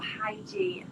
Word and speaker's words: hygge: Don't have like a strict routine, but I really enjoy practicing like hygge. I don't know if you're familiar with that, or hygie. It's difficult to explain. It's a Scandinavian thing. It's spelled Hyggge.